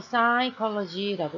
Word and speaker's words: psychology: 그래서 P가 묵음이라서 psychology라고 읽을 때 우리 월드스타 싸이 알고 있으니까 PSY라는 스펠링이라는 거 기억해 주시고요.